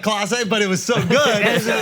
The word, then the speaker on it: Clase: He said Kase, not Clase, but it was so good.